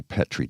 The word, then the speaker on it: Petri: Petri dish. It's actually Petri dish. See, I did not know that. Yeah. Well, we hear Americans pronounce it, and then it gets into our vernacular, but it's Petri dish.